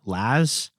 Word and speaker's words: Les: friend in the film whose name is Les, L-E-S, although at times in the film they sort of pronounce that like Laz.